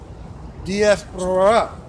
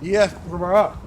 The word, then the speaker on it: Diaspora: Diaspora, okay? Diaspora, right?